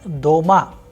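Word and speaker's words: дома: example in the word doma which means at home the vowel sound o is pronounced with greater force so the stressed vowel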